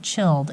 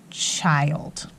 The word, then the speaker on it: child: say his name okay so this one is actually not chilled it's H I old child okay so be really careful whenever you see that I with the LD that's his own pattern okay